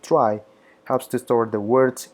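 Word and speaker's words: trie: phones a data structure called tree or Austin pronounced try helps to store the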